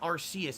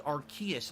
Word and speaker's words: Arceus: or r excuse me it's not arceus it's arceus apparently i've been saying it wrong all along and then let's see